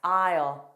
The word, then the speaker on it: aisle: Also aisle, aisle. Silent S, aisle.